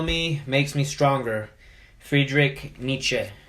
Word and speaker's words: Nietzsche: makes me stronger Friedrich Nietzsche is how you say it Nietzsche yes that's about right that's close enough my name is